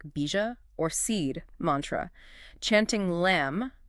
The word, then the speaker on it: lam: Chanting lam, pronounced loom, resonates with the root.